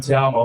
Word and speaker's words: Ta'amu: And my last name, y'all can pronounce in te amo, which is I love you.